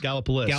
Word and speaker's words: Gallipolis: That got a lot of weird pronunciations. Gallipolis.